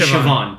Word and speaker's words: Siobhan: It's like if you've ever seen how Siobhan is spelled. It's like Siobhan. But it's actually Siobhan.